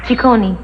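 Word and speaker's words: Ciccone: yeah my father's Italian and the name is pronounced Chone Chone yeah right strict family yes very in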